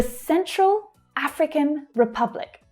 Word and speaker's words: Central African Republic: 3 words. Central. The first syllable there is stressed. African. The first syllable again. The second 2 reduce. African. Republic. Republic. So can you hear that in republic, it's the second syllable that's stressed. The first syllable reduces right down. It becomes the schwa.